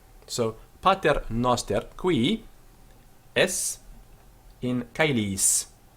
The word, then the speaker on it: pater: So pater, firstly we have an accent, pa, and then a fall at the end of the word, ter.